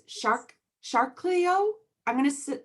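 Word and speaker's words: Chariklo: centaur and this is i think it's shark shark cleo i'm gonna spell it c h a a-r-i-k-l-o and um i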